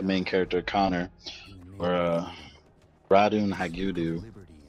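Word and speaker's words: Ratonhnhaké:ton: character Connor or uh radon Hau I believe is the pronunciation it was half Native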